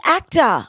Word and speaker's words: AACTA: The Actor Awards, it's spelled AACTA and it's not actor, because the Actor Awards in Australia acknowledge a lot of the technical and production side as well.